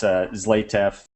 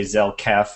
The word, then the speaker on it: Zlatev: Yeah, it's great to be here, and yeah, my name's pronounced Zlatev. It's okay. Everybody slaughters it all the time, but yeah, I've actually had people say Zelkef and there's no K, and tons of things like that.